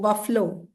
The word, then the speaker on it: buffalo: बफलो. ठीक है, आप लोग इसको बफेलो बोलते हो बट the correct pronunciation is बफलो.